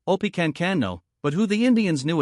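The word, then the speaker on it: Opechancanough: Effectively beaten, Pawatan was quickly replaced by his wararchief, who the English called Oppenano, pronounced Opicano, but who the Indians knew as Pacquao and the Spanish as Don Lluis.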